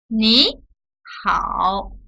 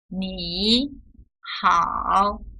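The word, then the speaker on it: 你好: Nihao which means hello we pronounce the first third tone as second tone so it's neat how instead of me how but it's still written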